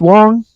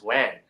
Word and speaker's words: Wang: It's written Wang, but normally is it pronounced Wong? Okay, so in our way of pronouncing is Wong. Okay. More like a W-O-N-G, but I know when people seeing how it's spelled, people like to pronounce it as Wang.